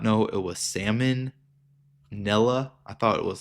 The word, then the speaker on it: salmonella: I had to look up how to spell that. I did not know it was salmonella. I thought it was like salamonilla.